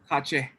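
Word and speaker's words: ཁ་ཆེ: How do you say Kashmir in Tibetan? Kashmir. Nope. Kache.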